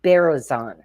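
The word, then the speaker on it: Berezin: something so Evelyn and her last name is pronounced barazon and uh she is the inventor of the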